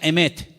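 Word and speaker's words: אמת: verdad y la palabra verdad en hebreo se pronuncia emet y vamos a ponerla ahí para que ustedes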